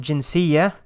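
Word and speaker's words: جنسية: or butter right so you would pronounce it jinsiya but when you add something like an attached pronoun like the ka is added here you would then turn it into a hard da right so the jinsiya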